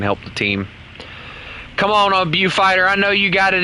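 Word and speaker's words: Beaufighter: I keep calling it Bow Fighter or Bew Fighter, and I've had several people tell me it's Bow Fighter, even though it looks like it's pronounced Bew Fighter.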